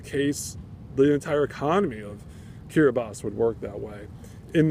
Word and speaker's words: Kiribati: Oh, he mentioned the corruption that was pretty endemic within Kiribati, now, or Kiribati, I should pronounce it correctly.